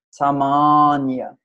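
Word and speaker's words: sāmānya: a que é semelhante a pronúncia certa é samonia essa palavra ela é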